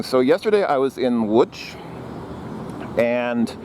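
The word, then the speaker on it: Łódź: was in which and if you look at how the city name is spelled it looks like Lodz LOD Z or Zed at the end so it looks like Lodz or maybe Lodge but no it's it's something like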